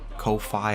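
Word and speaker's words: Ko-fi: got a coffee account ko phi i've heard people pronounce it both ways i'm gonna say coffee he's got an account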